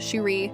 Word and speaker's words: Sheree: One thing I would like to point out, girlfriend's name is spelled Sheree with a little accent over the last e and pronounced Sheree, whereas our girl is plain old Sherry, like Barry, so I think this